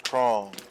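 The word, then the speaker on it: Chrom: My name is Krong. It rhymes with Valm.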